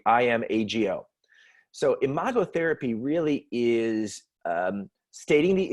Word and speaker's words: imago: business world is a process called imago and it's spelled IM AG o in a model is from imago therapy it's